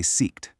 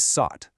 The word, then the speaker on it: sought: When we try to find something, we seek, but in the past tense, we never ever say seeked. It's just not a word. The correct past tense is sought, which rhymes with caught.